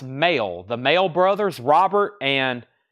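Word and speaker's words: Mael: including this one Sparks I think their last name is pronounced male the male Brothers Robert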